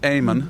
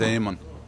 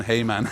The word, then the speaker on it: Eamonn: or Aon technically it's Aman yeah because the E is actually originally has an accent on it which makes it kind of Silent yeah so it is